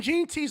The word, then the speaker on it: Jeanty: Ashton Jeanty's another one. Is that how you say it? Jeanty camp. It's like, I think it's Genty.